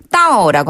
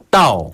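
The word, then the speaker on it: 到: 따오라고 합니다. 따오. 한 번 더. 따오.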